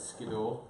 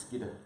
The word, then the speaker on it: Skiddaw: the back there, and I used to call it Skiddaw. Apparently it's Skidder. That is the proper pronunciation of it.